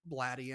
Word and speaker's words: Blatty: the Exorcist and and she said William Peter Blatty and I was like oh is that how you say his name I almost thought it was body anyways so why I liked